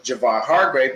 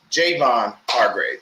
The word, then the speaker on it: Javon Hargrave: Because we have Javon Kinlaw, and I thought his name was Javon Hargrave, but it's Javon Hargrave.